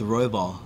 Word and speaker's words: Royval: No, like, because the pronunciation is different. Like Battle Royale, like in Fortnite. Oh, it's Royval.